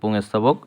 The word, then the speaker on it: পুংস্তবক: পুংস্তবক, উচ্চারণটা এই পুংস্তবক।